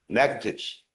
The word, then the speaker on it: Natchitoches: I've been mispronouncing. Natchitoches.